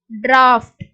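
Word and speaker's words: draught: Pronounce like F, எஃபோட sound மாதிரி நம்ம pronounce பண்றோம். Example tough, லாஃப், ரஃப், டிராஃப்ட்.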